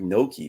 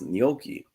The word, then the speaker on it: gnocchi: But you're pronouncing it like gnocchi, but it's gnocchi.